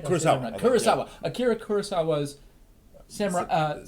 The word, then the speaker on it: Kurosawa: I think most people may not be aware, but Samurai 7 is based around Akira Kurosawa's... Did I say his name right? Kurosawa.